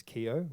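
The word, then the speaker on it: Keogh: is and my last name is Keough which is an Irish name it's Keo GH and the gh is silent and I just thought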